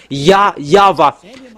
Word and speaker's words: Yahvah: didn't pronounce that Jehovah, because Jewish didn't call that, and as well as for Yahweh. And I give you the name that Jewish called YAHVAH.